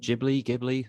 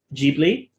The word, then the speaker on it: Ghibli: So according to Hayao Miyazaki, it is Ghibli, like Ghibli, because it's based on an Italian aviation company's name, and in Italian it would have been pronounced Ghibli, and then sort of